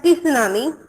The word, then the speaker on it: tsunami: Yes, yes, because it is written as tsunami, but T is silent. Okay, so we have to read as a tsunami.